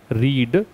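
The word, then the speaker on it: read: form क्या बंटी है रीड second form की स्पेलिंग भी से है बस पढ़ने का तरीका अलग है रीड रेड रेड रेड रेड रेड याद रखो स्पेलिंग से उच्चारण अलग है ठीक हैरो स्टडी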